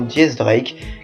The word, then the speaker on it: X Drake: Venons-en au fait, le X de X-Drake en écriture romane signifie 10, de même pour la prononciation Diez Drake qui signifie également 10 en espagnol.